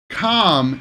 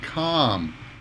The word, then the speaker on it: calm: come and Capcom yeah come is in US and uh uh like bus come calm is an ah sound calm come come come okay